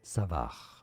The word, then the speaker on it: Savart: Savart. Again, the T is silent.